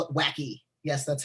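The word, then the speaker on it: wacke: the same thing um then you call it wacky yes that's how that's pronounced wacky it's real fun to say um but in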